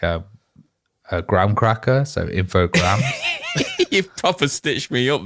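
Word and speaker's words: Infogrames: video on YouTube with the apparent official French pronunciation because you know they are a French company have listen infog so apparently that is how you officially say it um I know apparently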